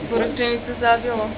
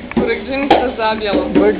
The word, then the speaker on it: Burekdzinica Zabjelo: How do you pronounce the name of this place? Burekdzinica Zabjelo. Say it again. Burekdzinica Zabjelo.